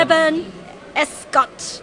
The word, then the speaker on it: Eban Escott: Eban Escott. That's it. Yes. Eban Finally, Escott. my Asian students stop me from mispronouncing names because the whole running joke is me mispronouncing white names.